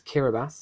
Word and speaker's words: Kiribati: In Group C, Martinique were top alongside Mayotte, with Kiribati and it's Kiribati is how you actually pronounce it, and Northern Mariana in fourth.